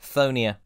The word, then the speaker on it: Chthonia: Yep, that's right: Chthonia. I said it correctly.